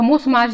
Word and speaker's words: ब्रह्म: लेकिन बंगाली लोगों के लिए, क्योंकि राजा राम मोहन रॉय बंगाली थे और बंगाली में 'ब्रह्मा' का उच्चारण 'ब्रह्मो' होता था।